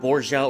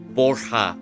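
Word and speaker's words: Borja: Uh, how do I pronounce Bourja? Is it Bourja or is it Borha? Uh, Pipino Ping Chilins helped me out a bit. I think I've been pronouncing his name wrong. Borha.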